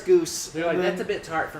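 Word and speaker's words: Gose: i guess not below that goose that's how you say it right you're like oh the ghosts yeah they're like goza they're like and you're like no pretty sure it's goose that's a bit tart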